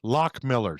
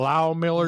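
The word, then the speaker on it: Loch Millers: It's pronounced Lock Millers. Lock Millers. Just like shuck around and find out. That's right, Tyler Shuck. Yeah. So because the receipt actually said how to say it. Oh, did it say that? Because for all these years I kept calling it Low Millers or Loft Millers or whatever. It's Lock Millers.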